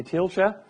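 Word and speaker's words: Thielscher: how to pronounce my second name the correct pronunciation would be teal Sherer but this is easy only for German speaking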